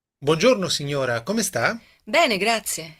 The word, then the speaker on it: grazie: Bacanya grazie.